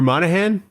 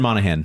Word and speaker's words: Monaghan: I knew some of the syllables. Or Monahan? Cameron Monaghan.